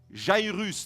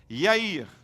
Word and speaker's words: Yair: du nom de yair vous êtes habitué à prononcer le nom j'aï russe n'est ce pas mais en réalité cet homme était un juif et en hébreu le nom j'aï russe et haïr dit avec moi yair je donnerai la signification